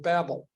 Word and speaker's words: Babel: in the Tower of Babel and we know basically the story of the Tower of Babel or Babel depending on how you like to pronounce it but in that as